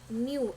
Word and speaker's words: nu: it is given by denoted by the letter new Nu U that is a pronunciation but new year you could see in